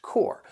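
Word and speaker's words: corps: as the pronunciation core which is why you don't hear the p and the s so if we're talking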